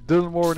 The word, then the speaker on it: Dylan Moran: Also, Nilesy, Dylan Moran is pronounced Dylan Moran. Dylan Moran.